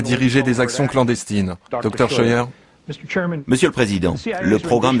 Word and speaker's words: Scheuer: Dr Scheuer, est-ce que je prononce bien votre nom? Scheuer.